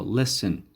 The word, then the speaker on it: listen: right now listen listen now t silent so listen carefully listen carefully means that you have to